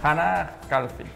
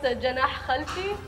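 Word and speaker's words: جناح خلفي: Hana Khalfi. Yeah. Good question. It's pronounced Janah Khalfi and it means...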